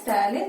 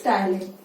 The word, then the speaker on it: ptyalin: It starts with P, but name is ptyalin because P is silent. Okay, so it is ptyalin.